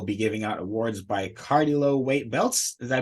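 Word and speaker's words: Cardillo: They will be giving out awards by Cardilo weight belts. Did I pronounce that correctly? Cardilo.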